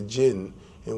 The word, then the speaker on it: jinni: You know, you have in this particular film, you have the jinn, in which the word genie is really a single, as we mentioned before, a single jinn, which is jinni. That's the correct pronunciation, a single jinn.